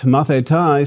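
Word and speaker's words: μαθηταί: students my mathetai and if you think that mathetai sounds like math you are quick studies indeed our word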